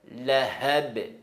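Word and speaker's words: لهب: Sayasla naran dhata lahab. Lahab, c'est pas la ab et c'est pas la hab. C'est le ha qui tremble la gorge avec la prononciation des ha.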